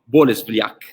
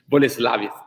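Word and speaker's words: Bolesławiec: from the city of bolesliak from poland police lavish sorry they they correct my pronunciation boleslavic from poland so now let's see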